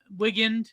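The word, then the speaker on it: Wigand: For example, in the inside in the insider, Jeffrey Wing uh how do you say that? Wign Wigan. Jeffrey Wigan.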